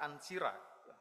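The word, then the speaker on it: Ancyra: di sebuah tempat yang bernama bacanya ansira sekarang ibuota Turki neara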